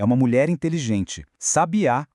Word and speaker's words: sabiá: Sabiá com acento no último A é um pássaro.